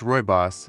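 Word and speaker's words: Rooibos: Ruios pronounced Royos and scientifically known as aspelithus linearis translates to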